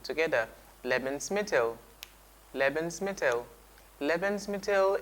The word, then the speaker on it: Lebensmittel: this plane on your screen let's try the pronunciation together lemons metal lemons metal lemons metal its food stuff okay